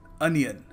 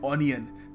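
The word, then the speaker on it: onion: शब्द है अनियन अनियन इसको हम अपने भोलेपन में कह देते हैं ओनियन क्योंकि ओ लगा हुआ है but again English is a very funny language so you must pronounce it अनियन ये इसकी करेक्ट प्रोनंसिएशन है सो याद रखिएगा ओनियन नहीं अनियन देखिए अगला शब्द है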